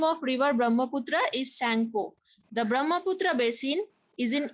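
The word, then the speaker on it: Tsangpo: The river Brahmaputra originates from Tibet, where it is called Sangpo. So we will not pronounce the T, okay? It will be called Sangpo, okay? So in Tibet, the name of river Brahmaputra is Sangpo.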